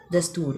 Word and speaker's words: دستور: کے نیچے درج کریں، جیسے دستور، دال زبر سین ساکن، تے پیش واؤ رے دستور، واؤ کے اوپر کچھ